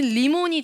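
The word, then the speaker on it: רימון: 어떤 게 있냐면 석류의 리몬은 레이시 리몬이에요. 리몬. 네, 알 발음은 리몬이고요. 제가 발음을 했던 리몬은 라메드의 리몬으로 들렸던 거예요. 그 사람은. 그래서 내가 리몬 이러니까 아니 리몬 이렇게 얘기했고 리몬 이러니까 아니 리몬 이렇게 얘기를 했던 거예요. 그래서 뭐냐면 리몬 레이시의 리몬은 석류고요. 라메드의 리몬은 레몬이에요.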